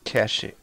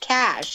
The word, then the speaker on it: cachet: all right hold on it says it is properly pronounced like the word cash according to 100 words the word is sometimes pronounced with two syllables as cachet but this pronunciation is